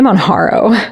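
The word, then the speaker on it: Mounjaro: There's trespide which is I say Monaro but maybe that's like the Californian in me when I see a J I pronounce it like an H which is probably wrong.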